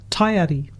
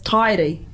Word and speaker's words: Taiari: However, our understanding is, as a traditional name, it is taiari.